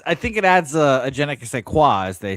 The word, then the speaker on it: je ne sais quoi: And it's je ne sais quoi. It's not genek.